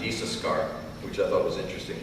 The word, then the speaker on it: Issachar: And she named him Issachar, which is actually pronounced Issachar, which I thought was interesting.